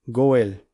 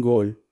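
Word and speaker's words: גואל: Goel. Se pronuncia exactamente así en en Gol.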